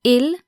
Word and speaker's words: ils: S because the singular ill and the plural ill are pronounced exactly the same so ill with an